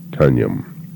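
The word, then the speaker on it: Tonjum: the name of the town is tanjam Teo and t-o-n-j-u-m pronounced tanyam and we were we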